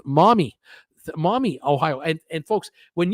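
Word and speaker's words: Maumee: Bill Carroll, hi, Bruce from Mommy, Ohio, pronounced Mommy.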